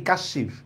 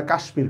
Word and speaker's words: কাশ্মীর: উচ্চারণ কি কাশ্মীর নাকি কাশীর এটার উচ্চারণ তো আমরা কাশ্মীর করি কারণ হচ্ছে এটা বিদেশী ভাষার শব্দ ওরা যেভাবে উচ্চারণ করবে আমাকে সেটাই মেনে নিতে হবে কিচ্ছু করার নেই বিদেশী